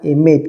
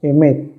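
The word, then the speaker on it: אמת: Claro que cuando se escribe ya en español aparece la E, ¿no? Emet, pero en realidad el hebreo solamente va con consonantes. Ya para distinguir la E ya entraría las vocales.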